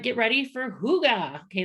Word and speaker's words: hygge: right get ready for hygge okay that's how you say that i know it's spelled h-y-g-g-e but it's like they said it's a hugo when you say it um this is